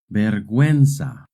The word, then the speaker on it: vergüenza: In Spanish, when a word has GUE or GUI, the U is silent. But if the U has a diéresis, then you do pronounce the U.